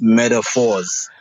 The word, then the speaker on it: Medaphorz: on my end it's metaphors sorry carry on yeah yeah no I was about to say that um most people pronounce it with a t but I spell it with a d as in years because